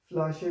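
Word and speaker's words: Flasche: फ्लाशे, फ्लाशे का मतलब बॉटल।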